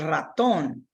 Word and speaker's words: ratón: So you want to ensure that that's where your stress in the pronunciation goes.